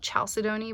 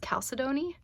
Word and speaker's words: chalcedony: it um this is i always call it chalcedony but i guess it's pronounced calcidoni um this is a